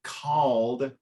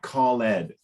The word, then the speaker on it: called: good now the word called you said a little bit more like call Ed okay which in the time of Shakespeare that's how they pronounced it but now in Modern